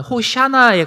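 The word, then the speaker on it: הושענא: 구원하다라고 하는 단어 야샤라고 하는 단어가 있는데 그 단어와 간절히 구하다라고 하는 아나라는 그 두 단을 단어를 붙여서 호산나 어 뭐 히브리어 발음을 하면 호샤나에 가까운데요.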